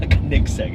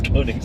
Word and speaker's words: Koenigsegg: It's not Koenigsegg, it's Koenigsegg.